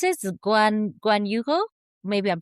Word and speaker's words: Guanajuato: Guan- Guanajuato? Maybe I'm pronouncing it incorrectly in Spanish. Guanajuato?